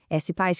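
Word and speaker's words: SPASS: S-Paz que se escreve S-P-A-S-S, é a nossa plataforma de benefícios.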